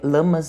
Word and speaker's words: Lammas: Mas só para falar que de acordo com minhas pesquisas, a pronúncia correta é lamas mesmo e lunassá, que esse sabá também é conhecido como a primeira colheita, a festa do pão.